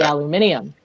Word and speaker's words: aluminium: been pretty fine so people like to occasionally make fun of my pronunciation of things like aluminum yeah obviously aluminium over here so so i get